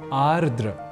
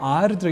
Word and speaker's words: आर्द्र: अन्विति कुछ भीगा तो यहां आर्द या आद्र के क्रम में हमने देखा कि हम एक र इस अक्षर को हटा देने का काम उच्चारण और लेखन के समय कर रहे होते हैं बल्कि ऐसा करना होता नहीं है इसलिए आर्द्र यह शब्द ही सर्वथा शुद्ध शब्द है यहां एक बात यह